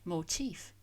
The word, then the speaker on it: motif: It has a distinct F sound at the end, not like motive with a voiced sound. And the stress on the second syllable, whereas motive, the reason for doing something, the cause for the crime, of course, stresses the first syllable.